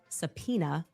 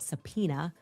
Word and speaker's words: Sapena: Her father, a man named Sapena, spelled phonetically, just as I'm saying it, subpoena.